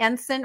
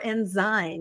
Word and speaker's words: Ensign: You had the Enen or Enzy depending on how you mispronounce it exactly.